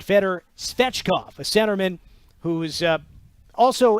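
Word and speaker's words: Fedor Svechkov: go Nashville has selected Fetter fetchkoff who's a center who played in the ahl's version of the KHL right for toliati I cannot pronounce that in Russian that's the Italian pronunciation but feder svechkoff a centerman who's uh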